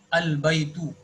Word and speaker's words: البيت: البيت Al Baitu. Okay. البيت Okay. It is in its original form. There is no harf jar in front of it, so it will be pronounced as Al Baitu.